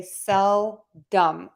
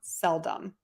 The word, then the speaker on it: seldom: it and I would say sell dumb with dumb at the end not Dom seldom all right did I